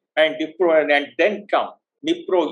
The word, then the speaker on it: Dnipro: Dnipro, and then come, Dnipro you call it, D is silent, and come right onto the eastern bank of Nipir river.